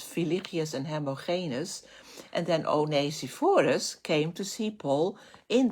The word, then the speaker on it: Onesiphorus: And and there's another person, Onesiphorus, that's how we would pronounce it in Dutch, I don't know in English, Onesiphorus.